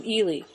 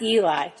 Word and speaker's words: Ely: stopped for lunch in elely eie not Eli better pronounce things right in eastern Nevada elely